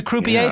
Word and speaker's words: croupier: It's a croupier for roulette?